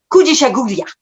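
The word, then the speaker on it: Kujichagulia: Kujishaguria.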